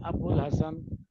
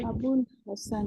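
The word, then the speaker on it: ابوالحسن: है तो आप देखिए वाव भी साइलेंट है और अलीफ भी साइलेंट लेकिन आपको लिखना है अबुल हसन अब्दुल कलाम अबुल कलाम आजाद नाम सुना होगा जो इंडिया के हमारे थे पहला एजुकेशन मिनिस्टर थे उनका ऐसे लिखा जाता है लेकिन लेकिन Ali silent silent okay अबुल हसन हां अबुल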